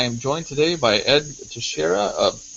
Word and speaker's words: Teixeira: It's Teixeira, the hard X.